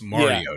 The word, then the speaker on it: Mariota: Remember, it's Marcus Mariota.